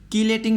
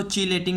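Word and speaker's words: chelating: तो यहाँ पर हम लिगेंड्स को 2 टाइप्स में क्लासीफाई करते हैं, कीलेटिंग लिगेंड्स या फिर हम इसको चीलेटिंग लिगेंड्स भी कहते हैं। डिफरेंट प्रोनाउंसिएशंस हैं इसकी।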